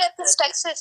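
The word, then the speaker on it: epistaxis: अच्छा जी, सर एपिस्टेक्सिस होता है।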